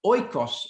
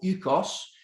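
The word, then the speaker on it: οἶκος: Un par de comentarios sobre la casa, oikos en griego o oikos, otro es dependiendo de su pronunciación, pero la casa o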